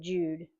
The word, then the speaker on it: Jude: yellow star that said Jude, which is how you say it in German. You say Jew as Jude in German.